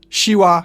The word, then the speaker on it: siła: It's like a softer sh, which I've already compared to English sh in shoe. Siła, siorbać, coś.